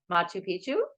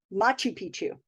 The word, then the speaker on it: Machu Picchu: and I pronounce it as Machu Picchu. What's wrong with that? Isn't it? How do you pronounce it Oh, again? oh, you're just saying you're putting the accent on a different syllable.